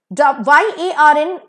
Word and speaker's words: yarn: YARN का pronunciation होगा yarn, elongated pronunciation.